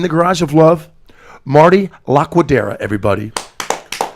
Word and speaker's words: Laquidara: Yeah, it's a Laquidara.